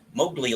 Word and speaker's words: Mowgli: do you pronounce it Mowgli Mowgli like from The Jungle Book okay this dog is